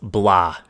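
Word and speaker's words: Blough: you pronounce thanks guys it's pronounced blah david david blah so nick whatever i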